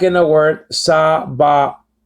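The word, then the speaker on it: צבאות: Just like in the word sa-ba-ot. It's not pronounced sa-ba-vot or sa-ba-wot.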